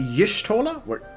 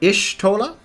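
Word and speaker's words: Y'shtola: Do they pronounce it Yishtola? That's also one where I have kind of in my head. It's an Ishtola rather than a Yish.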